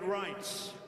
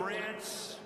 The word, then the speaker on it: Reince: And I said before, nobody knew how to pronounce his name. It's a crazy name. They called him Rance. Steve Wynn just called him. He's still not pronouncing it right, Steve. But Reince Priebus, now everybody pronounces his name right.